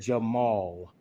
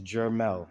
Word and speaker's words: Jermel: You said Jamal. Mal has an A in it. It's Jermel, sir.